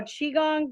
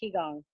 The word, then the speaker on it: Qigong: Oh, Qigong, but it can also be pronounced Qigong.